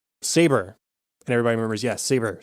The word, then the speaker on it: Sabre: the cold cold open they refer to the company's new owners as SOB ray spelled sa b r e and we don't know what's wrong and so Gabe shows up and pronounces it correctly Sabre and it's right before